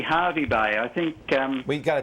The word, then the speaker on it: Hervey Bay: i'm very well now is it hervey bay how do you say that it's actually harvey bay i think um we